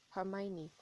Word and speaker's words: Hermione: Ron and Hermione and uh for those who pronounce that name very weirdly it's Hermione but throughout the two books there was actually